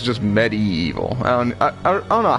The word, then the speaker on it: medieval: part, but he's like, you gotta pronounce the I. Medieval.